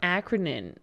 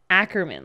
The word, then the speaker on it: Ackerman: their heritage in fact you were saying acronym acronym but you're saying ackerman like that last name yeah yes okay i'm